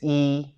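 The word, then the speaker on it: 一: syllable word, for example, say the number 1. E. So the number 1 is E. So you can just say it like, imagine in your head, see the letters E, and then just say the first tone, the robotic tone.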